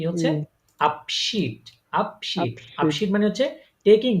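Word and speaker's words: Abschied: হ্যা এই বলার সময় দেখেন বলে ফেলতেছেন যখন উচ্চারণ করতে তখনই হয়ে যাচ্ছে কিন্তু তাই না তাহলে এটা কি হচ্ছে আপশিট আপশিট আপশিট মানে হচ্ছে টেকিং লিভ বা বিদায়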